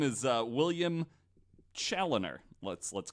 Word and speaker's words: Chaloner: Maybe his family is French, but he's English, so it's Chaloner.